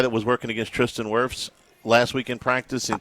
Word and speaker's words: Wirfs: He's getting to work out against, I guess he goes against Tristan Wirfs probably how do you pronounce his name? Wirfs, yeah.